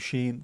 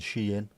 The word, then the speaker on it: Shein: A with an O on the top is like O in the pronunciation of the word O. Timu Sheen. That's how we'd say it, but it's pronounced Temu and Shein.